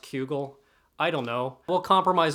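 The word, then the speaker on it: Cugel: that are absolutely breathtaking cudgel's Saga I've had my Knuckles wrapped that it's pronounced kugel I don't know well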